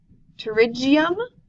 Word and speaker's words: pterygium: part of the word pterygium is this one here that the P is silent in Breck EULA can